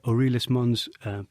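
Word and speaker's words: Aeolis Mons: called Mount sharp or orus Mon's U I think that's the right pronunciation uh and it's actually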